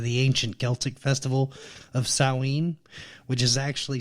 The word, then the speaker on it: Samhain: date back to the ancient Celtic Festival of sewing which is actually spelled like Samhain like si ma che I and I know a lot of people have heard it pronounced that way but it's actually pronounced salween the Celts who lived about 2,000 years ago